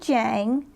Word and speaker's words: Jiang: I welcome Jiang. Is that the correct pronunciation?